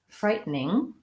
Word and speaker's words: frightening: of a theme today it looks like it should be frightening but Americans will very frequently say this more like frightening frightening where we leave the the middle syllable out so we tend to